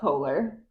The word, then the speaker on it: Koehler: This is Kohler.